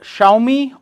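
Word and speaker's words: Xiaomi: इसको कुछ लोग जियोमी भी बोलते हैं, आपकी चॉइस है आपको क्या बोलना है। एक्चुअल इसका प्रोनाउंसिएशन जो होता है वो शाओमी होता है।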